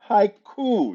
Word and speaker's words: haiku: coop says ew it's it's hi cool it ew it's haiku what does that mean hey ew count cool oh hi okay haiku not coop okay cool haiku three